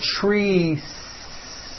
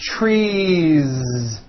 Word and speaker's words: trees: tree or two trees it's not trees with an unvoiced S it's trees with that vo ending you see that another